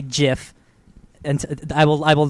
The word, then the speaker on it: GIF: Graham and Twitter sparks so just in relation to our topic the creator of the GIF file format says that it's pronounced jiff listen having that in